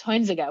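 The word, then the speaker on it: Huizinga: First, I'm grateful to you for teaching me how to pronounce Hoinziga, which when you said it, I'm like, who's that?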